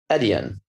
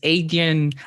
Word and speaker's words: Adyen: you moved to um edian yes adian oh wow one of the first people that actually pronounce it right everyone says adrian again well uh